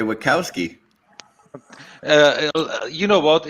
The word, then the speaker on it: Wachowski: They are American, so they say Wachowski.